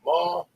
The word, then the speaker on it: Marr: They married 2 boys from Scotland called John and William Marr and M.A.R.R. as opposed to the Irish Mar, which is Meagher, pronounced also Mar.